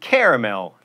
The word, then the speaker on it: caramel: that tea silent and caramel three syllables caramel is also acceptable you get guacamole or